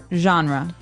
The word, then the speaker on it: genre: It's a soft soft sound.